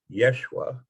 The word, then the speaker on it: Yeshua: surface of the earth his name was actually pronounced much more like yeshua which i will refer